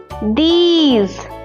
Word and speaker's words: these: The first e says e and the last e is silent. Okay. Let's see the examples of this. Like h e r e here means this place here. These t h e s e.